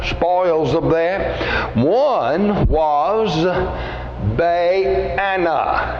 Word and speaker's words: Baana: One was Baana. That's the way I would pronounce his name in my self-pronouncing Bible. Not banana, okay? Baana. Baana was his name.